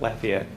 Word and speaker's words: Lafayette: lived in lafayette louisiana and that's how you pronounce it lafayette when i lived in lafayette louisiana there were there was a rink for